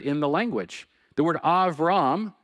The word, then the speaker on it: Avram: The word Avram, that's the way the Hebrew pronunciation of his first name, Avram means exalted father.